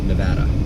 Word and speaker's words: Nevada: I was told it's pronounced like Nebraska, Nevada.